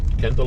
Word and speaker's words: Kendale: It's spelled Kendale, but it's actually pronounced Kendale.